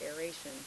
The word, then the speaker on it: aeration: Above the water table is the zone of aeration. A-E-R is how it's spelled, but it's actually filled with air, A-I-R.